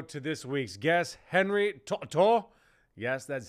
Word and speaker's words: To'oTo'o: a quick intro to this week's guest Henry to to yes that's how you say it we go